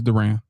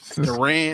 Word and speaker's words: Duran: It's Duran. Well, it's kind of Durant. It's kind of like Durant. It's kind of like his name. So Durant is spelled differently than Duran.